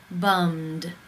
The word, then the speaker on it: bummed: you pronounce this word the final sound in the infinitive is the M consonant sound mmm it is voiced therefore it is case 2 and the ed is pronounced as the D bummed bummed how do you pronounce